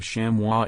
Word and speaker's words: chamois: chammi the plural of shamwah is spelled the same as the singular and it may be pronounced with the final s sounded however as with many